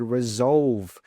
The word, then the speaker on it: resolve: Instead of saying fix, you could use the word resolve because resolve means to find a solution to a problem. Now make sure that when you say that V sound, you voice that sound.